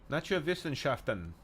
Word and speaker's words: Naturwissenschaften: Naturwissenschaften. Well done. W's in Germany are pronounced as V. Yeah, that's why I said Wissen.